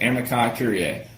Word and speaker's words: amici curiae: All right, it's going to look like amici. That's what it looks like, but that's how you pronounce it, amici curiae.